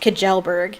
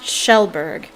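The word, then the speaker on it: Kjellberg: and everybody think it's everybody thinks it's pronounced kajelberg but it's pronounced shellberg so i'm wondering if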